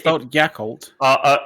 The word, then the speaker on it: Creutzfeldt-Jakob: Was that it's- it's- Creutzfeldt-Jakob? Sorry. Proper German pronunciation would be Creutzfeldt-Jakob. It's a B sound at the end.